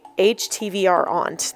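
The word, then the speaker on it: HTVRONT: sent by the company H HTV aunt that's how you say it um and I I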